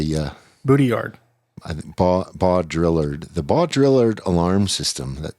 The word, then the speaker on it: Baudrillard: Well, how do you spell Baudrillard? It's spelled Baudrillard. It's like bow drill ard, Baudrillard. Baudrillard.